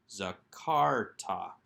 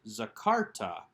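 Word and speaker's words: זכרת: so that it is a long a under the zion and then a short a under the cough followed by a silent schwa under the rash zakarta again with that accent on the second syllable let's move on to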